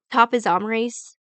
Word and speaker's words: topoisomerase: And topoisomerase, that's how you say it.